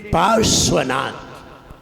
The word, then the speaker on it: पार्श्वनाथ: जैसे पार्श्वनाथ, तो देखिए आधा रा और आधा सा, पार्श्व, आधा रा और आधा सा, 3 नहीं मिलेंगे, 3 कहीं भी नहीं मिलेंगे।